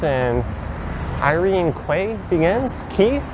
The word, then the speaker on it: Quay: IR GRE Quay begins key q u a y I know it's key but I often mispronounce it Quay when I read